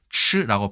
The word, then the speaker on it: 吃: 말 더듬을 흘자, 중국에서는 아까 말씀드린 것처럼 치라고 발음을 하고요.